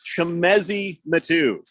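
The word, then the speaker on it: Chimezie Metu: is I was right on half of my pronunciation so I feel like I should get a gold star it's chemezi matu you know I thought it was the metoo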